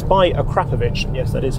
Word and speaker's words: Carfection: It's by Carfection, yes, that is how you pronounce it, and adds a load more character from this W12 engine.